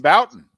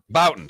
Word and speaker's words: Bouton: Ball 4, pronounce his name, the author of Ball 4. Jim Bouton. Bouton, sorry.